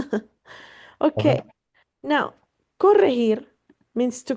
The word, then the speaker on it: corregir: How do you pronounce that word again? Corregir. Corregir.